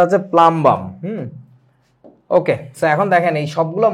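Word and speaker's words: plumbum: তোমাদেরকে বলছি কিনা পুল কিন্তু কই না এটার উচ্চারণটা হচ্ছে প্লামবাম ওকে এখন দেখেন এই সবগুলো মৌলের আমি হাইড্রাইড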